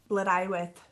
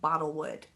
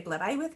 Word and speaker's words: Blodeuwedd: and I was reading Blodeuwedd. I was reading about Blodeuwedd, and I remember trying to say her name is like Bottlewood, and I just was like, that doesn't sound right.